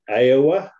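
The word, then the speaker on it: 'Eua: tongatapu the third largest island which is called aiowa which is spelled e apostrophe UA and higher Pi which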